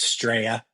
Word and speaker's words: Australia: Remember, Australia is pronounced straya.